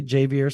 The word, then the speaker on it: Javier: Yeah, I'm gonna refrain from butchering it and let you say Javier Suggs. Okay. Yeah, it's Javier. Like if you pronounced Javier phonetically, Javier. Yeah.